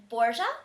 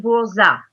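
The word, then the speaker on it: Bourzat: Am I pronouncing this right? This was Dave's whole thing. He was doing phonics with me yesterday. Did I pronounce their names right? You're pretty close. Peshla and Borza. Peshla and Borza.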